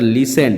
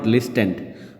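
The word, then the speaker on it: listened: অবিশ্বাস্য মানে যেটা বিশ্বাস করা যায় নাফ যেটা লিসেন্ড উচ্চারণটা হবে লিসেন্ড নট লিসেন্ড উচ্চারণটা হবে লিসেন্ড এল আই এস টিই এনডি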